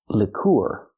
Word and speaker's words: liqueur: is pronounced lure lur move the stress to the second syllable not Lor but Lor use the short I sound like this is for the first vowel Lick Lick lure then we have the UR sound using the oo sound like food plus the